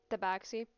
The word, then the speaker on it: Tabaxi: Tabaxi. And... Yeah, T-A-B-I-X-I? Yep. Soft B.